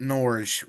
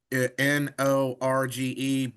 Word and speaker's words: Norge: Bethel or It was called I've been pronouncing it Norge, rhymes with forge. It's spelled the same way, Norge, but I've been mispronouncing a lot of Alaskan words.